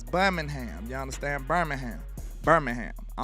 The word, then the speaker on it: Birmingham: It's no ing in there. It's Birmingham.